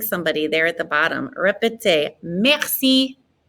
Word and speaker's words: merci: at the bottom merci it's a good opportunity to pronounce that R in the back of our throats again remember the r in the back of your throat is a H so rapid say merci merci good and give one